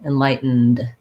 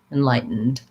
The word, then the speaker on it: enlightened: So you stop your T, enlight. You go right into the N, enlighten. And then you release into the D, enlightened, enlightened. Not simple, but basically this rules for T and D and syllabic N all apply together in this word enlightened. Thank you, Halim, for that request.